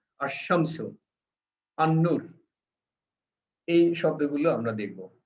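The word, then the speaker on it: الشمس: তাসদিদ যুক্ত হবে এবং সেটা ডাবল উচ্চারণ হবে। যেমন আল আশামসু, আল শামসু হবে না, আশামসু, আন্নুর, এই শব্দগুলো আমরা দেখব।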